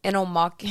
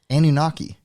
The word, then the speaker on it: Anunnaki: Anomaki. It starts with an A, baby. Oh. I still know how to pronounce it. Anunnaki.